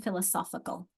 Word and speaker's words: philosophical: All right, what has changed between philosophy and philosophical? Philosophy, philosophical. It's an accent change, isn't it? Philosophy, philosophy, philosophical. There it is. Philosophy, philosophical. Here's our strong syllable here versus here's our strong syllable.